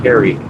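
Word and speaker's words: Cary: I don't know what you said, but it's spelled C A R Y. Carrie.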